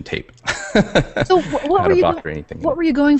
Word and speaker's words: Boccherini: Boccherini? Boccherini.